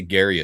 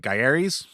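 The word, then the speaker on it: Gaiares: I always used to say Gary coming up or growing up, but it was um Yeah, I think it's uh I think it's what? Garis. Yeah, it's spelled like g a i a rs.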